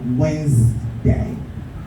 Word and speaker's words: Wednesday: Wednesday has a little of 1 or 2 silent sounds in it. The D is silent, and the first E also is silent. The second E rather is silent. So Wednesday.